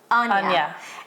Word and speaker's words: Anja: a how you say how you pronunciate your name Ana and then I say Ana do you know why because the J in Portuguese so it's an it's